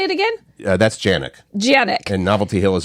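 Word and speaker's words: Januik: That's Janik.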